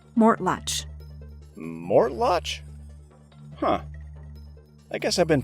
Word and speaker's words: Mortlach: Professor, this distillery is pronounced, “Mortlach.”